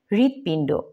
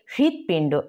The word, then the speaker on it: হৃদপিণ্ড: উচ্চারণ আছে এর মধ্যে সরাসরি আমরা এটাকে হৃদয় বলবো না হৃদয় হৃষ্ট হৃদি হৃদপিণ্ড বলবো না বলবো এটাকে হৃদপিণ্ড একটু হালকা হ এর ভাব আছে আর কি এর মধ্যে তারপর হচ্ছে